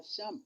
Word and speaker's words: Cham: de lire ça littéralement, on ne doit pas lire cham parce que le a qui a devant un ch, ça se prononce que, c'est ça, n'est-ce pas? Donc, au lieu de dire cham, c'est plutôt kam.